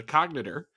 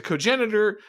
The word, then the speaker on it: cogenitor: to just merely as a cognitor yeah oh look at you correcting me on pronouncing something you no no I will not accept that from you no any any nuts you but uh yeah the third person who's referred to as a cogenitor uh and as an